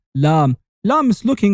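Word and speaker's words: لام: And not only does it look like a mirrored L, but does also sound like the L of lollipop. You say lam.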